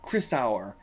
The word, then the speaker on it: Chrysaor: Be like Chrysaor, like sour, Chrysaor, something like that. Actually, seems like the correct pronunciation.